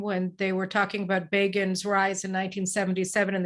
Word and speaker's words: Begin: they were talking about Begin's rise in 1977, and they said Begin rhymes with Fagin.